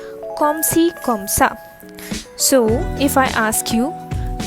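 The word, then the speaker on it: comme ci comme ça: am okay okay so what will you say komsi kamsa komsi kamsa so if i ask you kamo sava and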